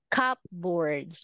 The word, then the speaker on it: cupboards: But in English, okay, it's better we say silent P is like P is silent. So we say cupboards.